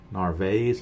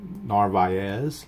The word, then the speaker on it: Narváez: the most obvious and I did mispronounce the Chicago White Sox catcher is Omar narváez it's actually narvi as is when I was hurt told or heard on the broadcast so I'm assuming the team broadcaster knows how to pronounce its narváez a couple other people